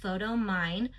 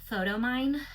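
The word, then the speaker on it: Photomyne: I'm using an app called Photo Mine. P H O T O M Y N E. Photo Mine. I think it's spelled that way.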